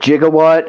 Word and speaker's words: gigawatt: gigawatt but um I don't think it's improper pronunciation I think it can go either way I mean I've always said gigawatts but I mean you could go gigawatts I mean you could just pronounce the gig part more.